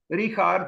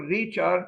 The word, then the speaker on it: Richard: Richard, or Richard, because he lived for a long time and built in the United States. That's why I'm undecided to pronounce Richard like in Austria or Richard.